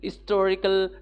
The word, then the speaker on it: historical: Similarly, Pillar of the Sky is an historical novel. Here H is silent, so it's a historical novel.